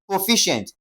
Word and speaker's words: proficient: Which means fi will be stressed. That is pro ficient.